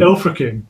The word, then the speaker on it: Ilfracombe: Oh, I think that should be Ilfracombe. Ilfracombe. Is that how you pronounce it?